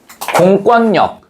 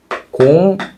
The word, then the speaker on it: 공권력: 그런데 이렇게 발음하지 않습니다. 어떻게 발음한다? 공권력 이렇게 발음해요. 공권역 이렇게 발음한다고.